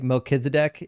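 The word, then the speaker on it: Melchizedek: It's it's a two-part word. It's uh melik for king and zedk.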